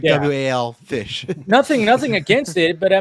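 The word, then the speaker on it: Wallfisch: Benjamin Wolfish. I think that's how you say it. Yeah, it's like WAL fish.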